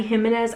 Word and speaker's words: Jimenez: I know it's like an H instead of the J sound. Is it Jimenez? Abby Jimenez, I think is how you say it.